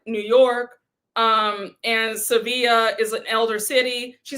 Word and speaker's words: Sevilla: not Seville, like us Americans say it, right? I might just say Seville. I don't, listen, y'all, just don't judge me if I say Seville throughout the recap and not Sevilla.